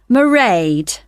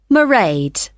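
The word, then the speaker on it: Mairead: I won't be working then, so you'll see my assistant, Merade. Sorry. How do you spell that? It's m a i r e a d. Merade.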